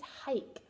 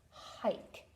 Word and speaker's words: hike: This is hike. So we have a silent E that's making the I say its name. Okay, and it's saying hike.